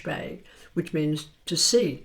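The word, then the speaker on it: spae: Gaelic is s p a e which is pronounced shpay, which means to see.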